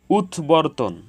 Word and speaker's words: উদ্বর্তন: উদ্বমন, উদ্বমন, এখানে উদ এর সাথে বফলা যুক্ত হয়েছে, এজন্য বফলার উচ্চারণ অবিকৃত হয়েছে। উদ্বর্তন, এখানে উদ এর সাথে বফলা যুক্ত হয়েছে, এজন্য বফলার উচ্চারণ অবিকৃত হয়েছে।